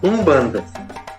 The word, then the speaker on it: Umbanda: com a palavra banda Lembrando que a palavra banda não tem o u em quimbundo pronuncia-se Umbanda Então essa era a